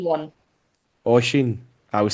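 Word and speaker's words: Oisín: Oshin one. Oisin.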